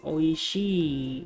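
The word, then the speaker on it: 美味しい: dan ada tanoshi Hai Jadi ia dibaca Dua kali ya bukan yasashii YG bukan oiiiiii jadi oishii Hai jadi vokalnya panjang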